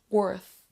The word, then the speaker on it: worth: worth la langue va aller au niveau des dents supérieures worth c'est pas worth worth